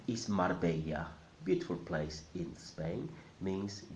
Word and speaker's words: Marbella: The R in the middle must sound mar, mar. And the second bit, the Spanish way. Many people are familiar with the Italian way of saying this bit, bella. But in Spanish it's not bella, it's bella. So altogether is Marbella, Marbella.